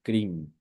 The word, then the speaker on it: Krim: y es el mantra Krim. Se pronuncia como se escucha.